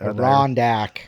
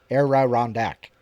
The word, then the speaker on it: Adirondack: Arondack. Huh? Arondack. Adirondack. Now you got me saying it wrong. No, you're saying it all wrong.